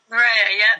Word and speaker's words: Moorea: And your most recent project's been in, I'm going to pronounce it wrong, is it Moorea? Moorea, that's pretty close.